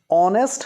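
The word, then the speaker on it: honest: अव्वल dash ऑनेस्ट king ऑनेस्ट हमलों की जांच से शुरू हो रहा है परंतु इसका उच्चारण होता है तो एच साइलेंट है कि इस डैश ऑन टेस्टिंग पॉवर की आवाज आ रही है ऑनेस्ट में तो यहां पर भी यूज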